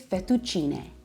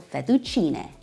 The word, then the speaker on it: fettuccine: The proper pronunciation is fettuccine. In Italian, the E at the end makes the S sound, not E, so fettuccine.